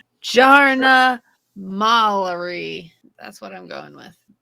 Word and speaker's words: Jarna Malari: Swedish, where you say a J is a Y. Jarna. Jarna. Jarna Malari. It doesn't have a Y in the pronunciation, so no, I'm not going with it.